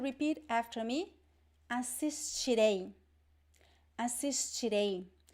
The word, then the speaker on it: assistirei: Assistirei. Assistirei. So you see here, again, I have this stress at the end because we have two vowels, right?